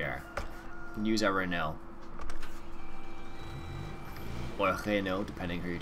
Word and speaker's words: Renault: In, I think if you're French, you would say Renault, but if most people wouldn't say it like that, just because they don't realize it's supposed to sound like that.